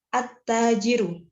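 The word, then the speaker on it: التَّاجِرُ: cara membacanya annasi annasi selanjutnya attajiru dikarenakan alif lam diikuti dengan huruf ta dibacanya dileburkan guru Syamsiah ya halnya attajiru attajiru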